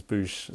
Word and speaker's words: Bouche: is spelled OOSH, and this is Boosh spelled with as in mouth. Like the French way, mouth media.